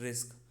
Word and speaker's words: RISC: RISC pronounced रिस्क stands for Reduced Instruction Set Computer.